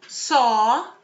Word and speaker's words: saw: Se eu tirar throw, que é arremessar, aí ficam saw, que é o passado de ver, e stop, que é o verbo parar. Os dois vão rimar com law, né, que é lei.